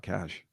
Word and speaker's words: cachet: called the cash cash i think it's just called cash oh but it's spelled cachet i mean yeah that's